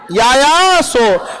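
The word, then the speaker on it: Yaya Tso: यायासो, यायासो। देखिए T silent होता है।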